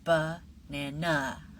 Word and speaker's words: banana: Which syllable is stronger in the word banana? Is it banana, banana, or banana? The correct answer is banana. Listen to it again. Banana. The middle syllable is stronger. It's a little stronger, a little louder, a little longer, and a little clearer.